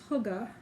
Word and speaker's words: hygge: It says, it's pronounced hygge.